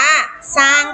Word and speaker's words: สร้าง: รอ เวลา อ่าน อ่าน ออก เสียง เฉพาะ พยัญชนะ ตัว หน้า ก็ คือ อ่าน ออก เสียง สอเสือ นะ คะ สร้าง อ่าน ว่า สร้าง ค่ะ อ่ะ ม.ค พี่